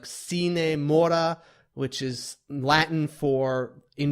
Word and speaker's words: Sine Mora: into I kept saying sign more AE x I believe it's pronounced it's Latin it's like cine Maura which is Latin for